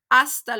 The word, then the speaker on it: hasta: hasta luego hasta luego remember H's are silent so it's not hasta luego it's hasta hasta luego hasta pronto hasta